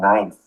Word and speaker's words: knife: K as in knife.